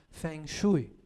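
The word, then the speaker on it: feng shui: o vasto xastra, que é a origem do fonchui, que aqui no Brasil nós pronunciamos como fengui, não é?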